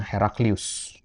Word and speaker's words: Heraklius: Ya, Herakl itu ya kalau bahasa ejaan kita ya Heraklius, ya, Heraklius. Kalau bahasa Arabnya Herakl.